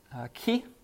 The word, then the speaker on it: chi: And next one is a key. Almost sounds like a key in ignition. And it's going to have the... Actually, if you want to really pronounce it, it's in the back of your throat, kind of like a sound, but it's just for easy. It's a key, as in like key.